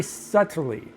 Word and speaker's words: subtly: Very subtly. With a silent B.